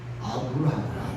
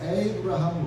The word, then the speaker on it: 아브라함: 아브라함. 요즘에도 이스라엘 그쪽 중동적 팔레스타인 지역 가면은 아브라함. 그러니까 여러분 아브라함 링컨 알죠? 그것도 우리가 그냥 영문 발음으로 에이브라함 링컨이라고 그러지만 그게 아브라함이에요. 아브라함.